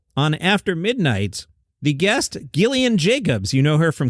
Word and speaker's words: Gillian: version said yes I'm Gillian Jacobs it's hard G soft J but the vibe is